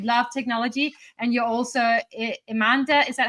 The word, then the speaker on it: Emanda: Uh so Amanda is actually M&A spelled phonetically.